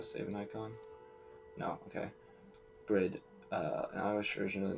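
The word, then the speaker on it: Bríd: like because I save an icon no okay bread uh an Irish version of the name Bridget a famous Irish saint it's pronounced for long e similar to the English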